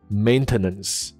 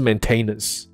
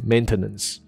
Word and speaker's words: maintenance: 的时候它的念法是 maintenance，甚至就是不是 maintenance， OK， maintenance，好，这知道就好了。